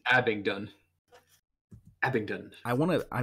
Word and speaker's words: Abingdon: it's a being done Abington I want to I my brain wants to throw a T in there but you're I think you're right yeah Abingdon ox Oxfordshire that's England